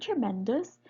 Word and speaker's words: tremendous: by the traic food in the word tremendous the syllable in the penultimate position this one is a